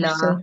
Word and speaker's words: Billah: So it will pronounce with simple thin sound. Thin sound. Billah.